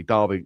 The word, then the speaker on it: Derby: Derby. Derby. It's an A. Derby.